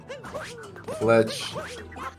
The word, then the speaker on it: Fletch: Fletch. It doesn't rhyme with clutch, but it kind of sounds like clutch. It's very close. It's close. It's close to rhyming. Just one. It's just the N.